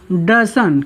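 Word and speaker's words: doesn't: आप इसको ऐसा भी बना सकते हो, क्या, डजन।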